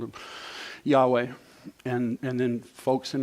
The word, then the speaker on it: Yahweh: i started comparing now they didn't spell it the same way spelled it y-a-w-e but yahweh that's what it sounds like this is emotional for